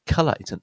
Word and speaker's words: colour: This one is colour. The O is an sound, and there are some other words that do this, like mother, yeah, colour, mother, or other, very common word, other.